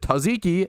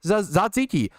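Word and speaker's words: tzatziki: were two different pronunciations Americans pronounce it taziki and then British pronounce it other say Z ziki it's fine to have multi was sat ziki whatever it's fine to have multiple different pronunciations based on cultures right it's it's insane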